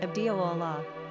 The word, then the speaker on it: Abdullah: Pronunciation, Abd-Allāh.